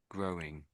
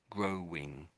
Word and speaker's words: growing: So So as if you're saying grow and then you're saying wing. Something like that. That's what you're saying. Grow and then wing. Grow wing. We don't we don't quite say it that way.